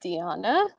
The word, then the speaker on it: Diana: So my name pronounced Diana.